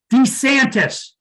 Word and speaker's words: DeSantis: DeSantis okay hey folks his name is pronounced DeSantis FYI if Ron DeSantis